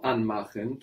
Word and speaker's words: anmachen: Because the stress is on the an part. Very good. An is stressed, which shows us that's a word in its own right.